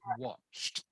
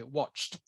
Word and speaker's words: watched: watched okay okay remember Ed on the end of a word is pronounced like the letter T so you say watched um not not watch